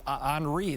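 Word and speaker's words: Henri: of bermuda that could become henry or anri that's the official pronunciation we'll watch that don't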